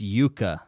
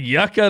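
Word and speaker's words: yuca: mighty's not texan though it's pronounced yuka oh man you know what jared looks like yucca to me what is a yuka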